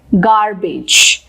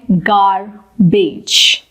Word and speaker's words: garbage: Next word है गार्बेज। हम इसको प्रोनाउंस करते हैं गार्बेज, लेकिन इसका करेक्ट प्रोनाउंसिएशन होता है गार्बेज, garbage।